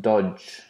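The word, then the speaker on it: Doge: guy oh there's a it's pronounced dodge now in this like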